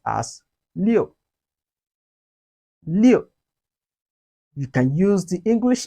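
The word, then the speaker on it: 六: tone now we've learned len in chinese is pronounced as leo liu you can use the english name leo to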